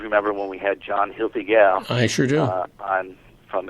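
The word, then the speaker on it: Hoefliger: know if you remember when we had John Hil gal I sure do on from Alpha Omega we had the young lady that mispronounced his last name call in that day but it is Hil gal and uh great wi maker uh learned in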